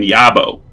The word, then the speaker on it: Yarbo: Yarbo, but he drops the R. So he says he pronounces his name Yabo. Yabo? Yabo, like he's from Boston, because he's a stupid puppet and stupid people are from Boston.